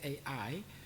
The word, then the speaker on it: Ai: I think, so in Hebrew it's actually every vowel is pronounced, and so it's probably better to say Ai rather than I.